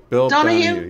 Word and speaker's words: Donahue: Oh yeah, Bill Donahue? Yeah. Because it rhymes with Phil Donahue.